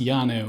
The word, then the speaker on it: Llano: And the double L, and it's not Welsh. Yeah. It's supposed to be pronounced Llano, apparently, but they all say Llano anyway, so it doesn't really matter.